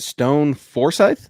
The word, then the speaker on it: Stone Forsythe: but nick nick how do you say it stone forsythe yes correct okay he had a really good